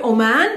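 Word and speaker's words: عمان: country is a country oman o man in arabic it's not o it has the letter and the rest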